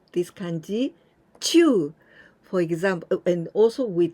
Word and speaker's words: 中: Other example, when we pronounce this kanji, Chuu, for example, and also with the nature.